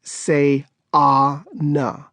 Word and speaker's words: Sayana: The middle child is Sayana, pronounced Say-ah-na.